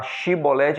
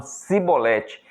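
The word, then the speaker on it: שיבולת: Em vez de falar Shibolete, eles falavam Sibolete.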